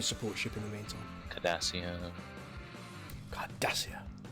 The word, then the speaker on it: Cardassia: ship in the meantime cardassia you've got to say it correctly card does here that's your corvette conservator